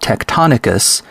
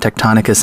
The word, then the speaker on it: Tectonicus: The program that I use for mapping the Shaft lands is called Tectonicus, which is spelled TECTONICUS.